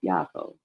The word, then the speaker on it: Yaakov: So his name was called Jacob. Remember, we pronounced that Yaakov.